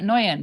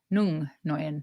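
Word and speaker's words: Nguyen: I think you pronounce that Noyen because I had a girl at my work.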